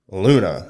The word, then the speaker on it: Luna: her up, she is Luna. Okay. And I mean, just between the Japanese and the English L's and R's, it's a common translation to put all their...